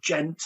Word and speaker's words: djent: Again, you'll think he plays tech metal or gent, which is spelled DJENT.